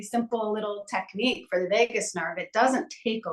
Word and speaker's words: vagus: be glad to so the Vegas nerve is they call it a Wanderer and um it's funny because you know Vegas is like wander but it's spelled a little different vus um the Vegas